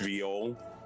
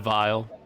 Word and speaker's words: viol: Also, I have no idea why it was bugging me so much, but the instrument is pronounced viol. instead of vial.